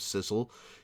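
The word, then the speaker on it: Sissel: especially sick little girls this whole time I thought you were just mispronouncing Cecil but he really is named Sizzle yeah his name is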